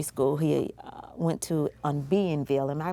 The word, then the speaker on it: Bienville: He talked about a nursery school he went to on Bienville. Am I pronouncing that right? Yes, Bienville.